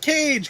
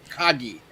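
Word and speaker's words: Kage: i love legend of cage because it's pronounced cage not cocky i've been saying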